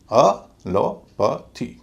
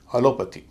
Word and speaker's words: allopathy: नियम क्या है कि वाई से पहले वाला जो वावल है वह हल्का बोला जाएगा, तो ए का उच्चारण